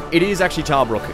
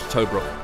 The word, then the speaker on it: Tobruk: It is actually Tarbrook. It's not Tobruk, like I said. You pronounce it Tarbrook.